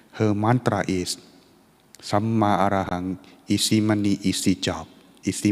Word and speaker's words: Samma Arahang: It's pronounced as Samma Arahang.